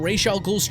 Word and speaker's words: Ra's al Ghul: And now we're gonna check out Ra's al Ghul's trials.